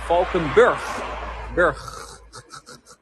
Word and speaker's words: Valkenburg: call it like that we're saying Falcon birth with a very hard G so and a hi